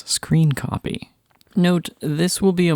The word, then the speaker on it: scrcpy: Now, on your computer, go to the GitHub page for screen copy shown here or linked in the video description. Note, screen copy is spelled SC CR C P Y.